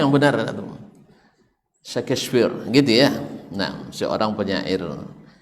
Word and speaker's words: Shakespeare: Syekh The First cowoknya Enggak ah DC kefir bacanya Yang benar Shakespeare gitu ya Nah seorang penyair Pujangga Amerika kenapa